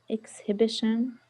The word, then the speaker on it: exhibition: Did he go to the exhibition on Sunday? But the H is silent. Exhibition.